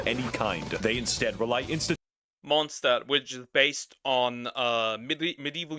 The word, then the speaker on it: Mondstadt: They instead rely Mondstadt, which is based on medieval Europe. Which does not look like medieval Europe. And it's technically German, so it's actually pronounced Mondstadt.